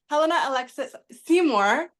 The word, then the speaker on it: Helena-Alexis Seymour: So I literally have Helena-Alexis Seymour.